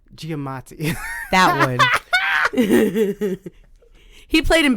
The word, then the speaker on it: Giamatti: for two people paul Giacometti and kim jong you have an honourable mention but you can't pronounce his name right get many Giamatti that would he played